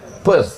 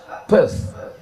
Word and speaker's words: Perth: Perth. P E R TH H. Th di ujung itu cara membacanya T. Pth.